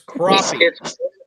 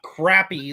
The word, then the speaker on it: crappie: Hey, it's crappie. It's not crappy like a certain part of the nation calls them Crappie.